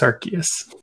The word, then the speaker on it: Arceus: most important thing which is how do you pronounce the god pokemon's name it's arceus and this is uh i don't know the